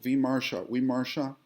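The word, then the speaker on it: विमर्श: So what I do is I analyze each one, and for example, Vimarsha, it's remember the V is pronounced like a W.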